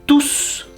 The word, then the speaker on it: tous: mes amis ils sont tous venus chez moi me rendre visite alors là vous devez prononcer le S parce que c'est un pronom vous voyez la différence